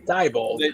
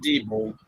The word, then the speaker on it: Diebold: That's how you say it too. Diebold. They pronounce it Diebold. Did they? Around here it's Diebold.